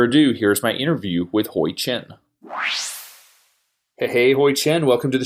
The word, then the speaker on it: Hui-chin: So just so folks know, you gave me the Americanized pronunciation of your name. I will let you say the correct way because it's always embarrassing when I can't pronounce someone's name. That's too bad. You were practicing. Now you just want me to say it. Okay, my name is Hui-chin. It's Huichin.